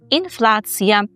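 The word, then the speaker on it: inflacja: Тому інфляція по-польську інфляція. Інфлація. І ніби ви скажете слово, ну, геть подібне на українську згадм ще погоджуюся, але пильнуємо вимову, бо вона все-таки інша. Ція українською, я по-польську.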